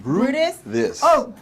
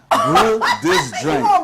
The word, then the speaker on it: Brutus: how is it in English BR this like Brew this Brew this Brew this grain Brew this grain brew and